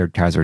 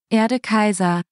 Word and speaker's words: Erde Kaiser: on the zenaga wiki I learned that the AED Kaiser does appear in the other two games too